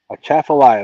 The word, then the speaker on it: Atchafalaya: A Chaffalaya. That's where Creole fishes. And the only reason I know how to pronounce it is because I heard him pronounce it numbers of times.